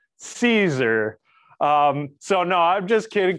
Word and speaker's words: Siser: do say it, because phonetically it does look like, it would be said as sizer but.